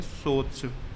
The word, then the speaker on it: swathes: Spelling है इसकी SWATHES। इसको प्रोनाउंस करेंगे सोच।